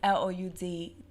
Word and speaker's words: Loud'e: on top of the D mean do not pronounce the letter after okay so it's l o u d aoop e but it's still loud uh lipsticks